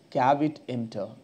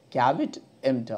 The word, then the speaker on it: caveat emptor: These principles are called the doctrine of caveat emptor. The principles of doctrine of caveat emptor. How do you pronounce it?